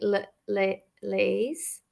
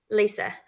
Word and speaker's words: Lisa: And then I saw in the chat, as I'm dyslexic a little bit, so I want to say Lise, and I'm really sorry if I'm saying your name wrong. Lisa.